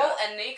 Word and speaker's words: Palahniuk: How do you pronounce his name? Palahniuk. That guy. Paul and Nick, I don't know.